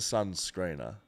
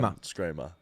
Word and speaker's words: Sun Screamer: it's not the Sun Screener. The Sun It's Screamer. the Sun Screamer.